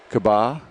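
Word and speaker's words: Caba: that's morgan kabah or i think cabo is probably probably right because it looks like a c which is kind of throwing me off it's spelled c-a-b-a but i think he said it sounded like a k so that makes more sense okay that's outside the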